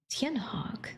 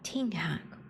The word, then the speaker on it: Tianhawk: In general, there are 3. Tianhawk, the official pronunciation, or Tinghak, or...